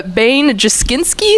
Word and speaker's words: Bane Juskinsky: Uh Bane Juskinsky is how you say it.